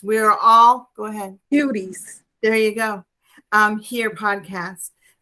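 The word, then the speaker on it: Kuties: So it's Cuties. It's just a different spelling. It's just spelled with a K instead of a C.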